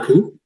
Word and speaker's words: Carriacou: I forget, I can't pronounce the other island. You said it. Carriacou. Carriacou.